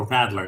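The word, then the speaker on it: Radler: kind of make a rattler. Now, a rat, not rattler like the snake or or what the babies do. Rattler. R A D L E R.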